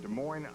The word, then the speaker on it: Des Moines: Our booking department tracked him down in Des Moines, Iowa. The S is silent.